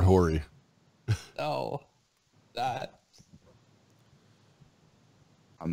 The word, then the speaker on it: Horry: It has an H. It's Robert Horry.